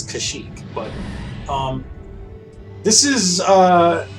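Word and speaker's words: Kashyyyk: uh running theme but here we are on kashyyk ashic however you want to pronounce it I think it's kashyyk but um this is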